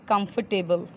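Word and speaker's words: comfortable: और आरामदायक कौन कहते कंफर्टेबल कंफर्टेबल के आर साइलेंट होता है कंफर्टेबल नहीं कंफर्टेबल ओके सुविधाजनक कन्वेनिएंट कनविनिएंट प्रभावशाली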